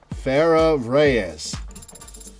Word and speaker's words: Farah Reyes: And how is that pronounced? Like how I just said it? Farah Reyes.